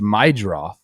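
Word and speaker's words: Meidroth: It's Chase Maid is how you pronounce it.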